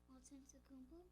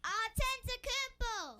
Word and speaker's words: Antetokounmpo: Antetokounmpo. Oh, you Nice. say it pretty Nice. good. Say it in there. How so many they can hear it. syllables is that? Antetokounmpo.